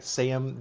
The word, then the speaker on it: Sejm: There is a new mechanic for Poland-Lithuania where it's the I think it's pronounced the Sejm. Is that how you say it, Bartek? Sejm, the Polish um parliament.